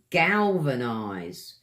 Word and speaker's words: galvanise: Next word I've picked for you is galvanise. 3 syllables, guys. Galvanise. With the V, your teeth hit the front of your tongue here. Helps get the word out properly.